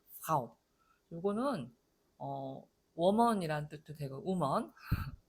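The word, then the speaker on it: Frau: 자음이 두 개가 연달아 나올 때 프 이렇게 모음을 붙이지 말라고 했어요. 아니, 그럼 이거 어떻게 발음하라는 거냐. 아랫입술을 물었다가 하고 놓고 이렇게 에르 발음을 해주고 그 다음에 모음을 좀 주로 발음을 하는 그런 단어가 되겠어요. 그래서 프라우 거의 F하고 R가 잘 안 들릴 정도로 프라우 모음이 더 크게 들릴 정도로 이렇게 발음하시면 정확한 발음입니다.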